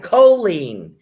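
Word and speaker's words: Cholene: that coffee i pronoun colleen is saying i pronounce my name of the long o co oh that's right choline did i do a reading for you dear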